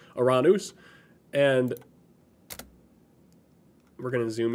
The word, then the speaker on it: Uranus: we have the planet uranus and that's how i'm going to pronounce it um that's the greek pronunciation for the for the greek god and uh subsequently the the planet so iranus and we're going to